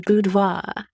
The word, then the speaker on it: boudoir: It's a boudoir. I haven't researched it, but I'm fairly certain. I'm sure someone who speaks French out there is yelling at the radio right now. It's boudoir!